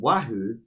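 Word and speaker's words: Oahu: about her she's from a hawaiian island called wahoo which is just 50 miles from kawaii i wrote down the pronunciation she's 15 hours from kawahi which is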